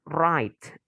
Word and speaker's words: write: Verb one write. W-nya nggak usah dibaca. Write. Silent W ya.